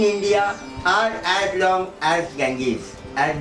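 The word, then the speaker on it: Ganges: गँगीज गंगा नदीला इंग्लिशमध्ये गँगीज असतात, त्याचा उच्चार होतो.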